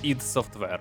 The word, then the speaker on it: id Software: ще навіть не сформованої на той час студії ID Software Так це правильна вимова назви компанії Ми ще не раз повернемося